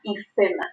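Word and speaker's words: hifema: La presencia de sangre en la cámara anterior se llama hipema o ifema. Se escribe con P o con F y con H. Nosotros usamos con mayor frecuencia la forma de decirlo con la letra P, ¿no?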